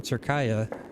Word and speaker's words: Türkiye: Steal a 2 for Team Türkiye. Hoping I'm saying it correctly. I was corrected that I shouldn't be saying Turkey anymore. Yeah, Türkiye. Türkiye. Hopefully that's correct.